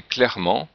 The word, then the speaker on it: clairement: Par exemple, clair, qui devient clair au féminin, et clairement, même si le E n'est pas vraiment prononcé, quelquefois il y a